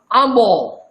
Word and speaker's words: ambo: Without this N, this becomes abo. But when you put N, it becomes ambo, meaning mango.